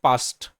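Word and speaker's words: past: যেমন বিষয়টা দেখো, পি এ এস টি যখন এতটুক ছিল সেটাকে আমরা বলেছি পাস্ট মানে অতীত, কিন্তু এখানে এটা পেস্ট, কারণ কি এখানে শেষে ই আছে।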